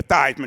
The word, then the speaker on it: Theismann: So he changed his name from Theismann to Theismann to rhyme with Heisman.